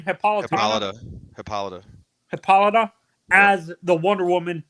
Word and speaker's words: Hippolyta: It seems like in that show they're gonna use Hippolyta set up how do you pronounce her mother's name? Hippolyta.